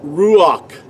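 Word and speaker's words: רוח: The word ruach in ancient Paleo Hebrew is spelled resh, u. See, that's the second letter. Ruach. See, the second letter cannot be spelled with a W sound nor a V sound.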